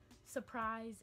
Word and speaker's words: surprise: Surprise and surprise. There's an R in there, but most people leave it out and say surprise instead of surprise.